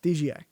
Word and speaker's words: DJI: The Wait, your screen Yeah, popped DJI. in and out. DJI. G. It's a G. J. It's a J. J. You keep saying G. But that's how it's pronounced. DJI.